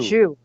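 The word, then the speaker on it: Zsu: And it's pronounced Shu. Shu.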